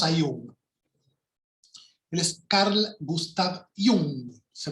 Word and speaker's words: Jung: él es carl gustav jung se pronuncia con latina porque viene del alemán era suizo si fuera inglés o norteamericano diríamos yang pero no es carl gustav jung carlitos gustavo para los